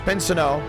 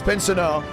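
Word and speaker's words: Chase Briscoe: Tes Chase Pino now originally I saw Chase Pino and I thought oh Pino and someone said no it's like the Renault you know what I mean it's like you know how Americans say renol instead of Renault Chase penso is the exact same one I was like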